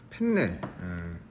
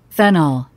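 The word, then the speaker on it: fennel: 발음이 이게 펜넬 이렇게 돼 있네요. 어학서전을 찾아볼까요? 발음 한번 들어보겠습니다. 페널. 발음 살보기 잘했네. 펜넬 할만한 영어 선생님답지 않을 뻔했네. 페널. 페널 이렇게 발음하네.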